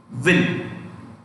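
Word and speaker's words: Nguyen: You know how is it pronounced? Vin. V-I-N.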